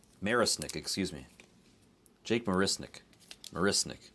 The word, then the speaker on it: Marisnick: so who's behind torque another pirate it's Jake marsnick marisnick excuse me Jake marisnik marisnik marisnick my pronunciation skills need to improve at two in